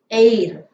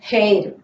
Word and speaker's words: heir: honest honest person okay and here he's an heir to the property air you don't say that hair okay air to the property it is an